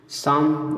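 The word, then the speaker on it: psalm: Pneumonia P एन से शुरू होगा तो पी साइलेंट रहेगा, इसमें एन से पढ़ना शुरू करेंगे, इसलिए न्यूमोनिया, ठीक है। शाम देखिए, पी के बाद यस आ गया, ठीक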